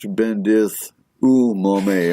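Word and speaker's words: Bendith y Mamau: Now we have Bendith Waimamau, pronounced Bendith Umame. Okay, I was wrong.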